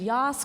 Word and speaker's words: Yass: unclear on the pronunciation I like to think Yas Queen exactly that's how you say it so thank you both